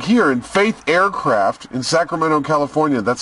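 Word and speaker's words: Faeth: Like here in Faith Aircraft in Sacramento, California, that's spelled F-A-E-T-H.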